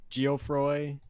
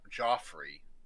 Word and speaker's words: Geofroy: that was like the pronounciation with the G most people at least in the state we call we say Joffrey okay yeah yeah definitely